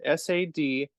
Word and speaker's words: sadhana: And sadhana is spelled Sadhana. It looks like sadhana, but it's Mhm. actually pronounced sadhana.